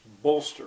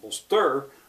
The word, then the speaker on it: bolster: Who can hear which is stressed? And eventually they come up with the first part. It's bolster. It's not bolster, it's bolster. What's the context?